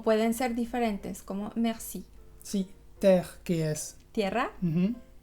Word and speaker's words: mer: El primer caso es cuando la E está antes de una consonante final pronunciada. En general son palabras cortitas, por ejemplo, mer, que es el mar, o también hier, que es ayer.